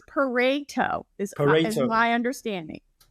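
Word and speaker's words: Pareto: this morning that it's it rhymes with potato. So that's what that's what I learned. So it's parto is my understanding.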